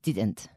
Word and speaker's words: didn't: So you have to pronounce that D. And remember, with the D, your tongue stays inside your mouth and touches the roof of your mouth. It doesn't come out like a TH sound, did.